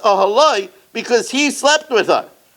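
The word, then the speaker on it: אהלה: But in the night, there was this fusion, vayet ahalah, it was with a hey, but it's pronounced ahaloi because he slept with her.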